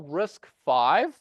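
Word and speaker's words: RISC-V: we call risk five so it's actually uh pronounced risk and this is number five this was the fifth edition of risk that was you know designed at UC Berkeley that's why they call it RIS five uh the reason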